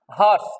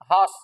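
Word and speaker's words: hearse: বলবো আমরা পায়ার মনে মনে থাকবে চলো নেক্সট হার্স এটা হচ্ছে উচ্চারণ হিয়ারসে এটার উচ্চারণ তোমরা অনেকে হিসেবে করো এটার উচ্চারণ হচ্ছে হাঁস এরকম হ্যাঁ হার্স এরকম এইখানে বিসর্গ হবে হাস এর আর এর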